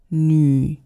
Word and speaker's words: 女: 女. Purse your lips, people. 女朋友. It is not 女朋友. It's not a oo. It's a ü.